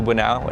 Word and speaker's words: Bunao: What's up guys, this is Bunao. It rhymes with Bunao not later.